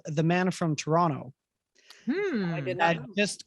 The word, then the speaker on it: Toronto: in canada is that you do not pronounce that second t toronto toronto it's toronto right and